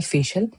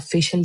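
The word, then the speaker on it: facial: Second list है हमारी जिसके अंदर लफ्ज है फेशियल। जैसे कि ब्यूटी पार्लर में जाके फेशियल कराया जाता है तो उसको आप फेशियल कहते हैं। फैश नहीं कहते। बहुत सारी खवातीन इसको फैश कहती है।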